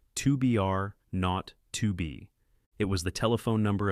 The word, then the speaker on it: 2BR02B: were supposed to call the zero in the telephone number he pronounced not the number was 2 are not to be it was the telephone